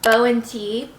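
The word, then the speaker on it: Bo+Tee: whole set is from bow and tee i found out that's how you say it not boo and teeth it's this two-piece little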